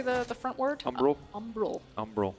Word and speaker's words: Umbral: Umbral. Umbral. Umbral. I always want to say umbrage like Harry Potter.